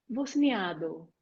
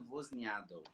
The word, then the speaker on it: Vosniadou: E o último nome é Vosniadou. Bosniado. Eu estava tudo errado. Então, Vosniadou.